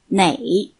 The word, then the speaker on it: 哪: is measure word nah it's often pronounced like nay for example Nagar chewata